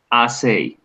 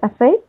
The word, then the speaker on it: assay: The pronunciation of SI is assay. SI is assay? Okay. Yeah, the pronunciation is assay, which is ensayo in Spanish.